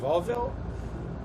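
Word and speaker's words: Vauville: And you'll see right away here, I believe it's pronounced Volville.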